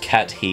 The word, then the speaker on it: Kathy: It's pronounced cat he.